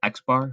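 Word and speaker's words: x̄: constantly saying the mean we'll call it the x bar which is the sample mean we'll talk more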